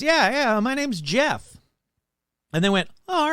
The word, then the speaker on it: Gef: It's spelled a dumb way. It's spelled G-E-F. But it's kind of like, GIF. Is it GIF or is it JIF? So I'm just going to say it's Jeff and not Geff.